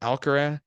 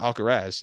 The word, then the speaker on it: Alcaraz: you say his name you get alcara or alcaraz that's people say different ways but alcarez is through as well